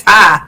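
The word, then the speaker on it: Ptah: Oh, if people pronounce it Patai. I've been pronouncing it Patai. It's Tai. Okay. The P is silent.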